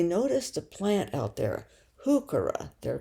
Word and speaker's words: heuchera: And they noticed a plant out there, heuchera, they're called, Heuchera, heuchera, pronounced with the H sound.